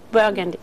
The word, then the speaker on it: Burgundy: from burgundy did i say it right yes burgundy burgundy you probably said it better than i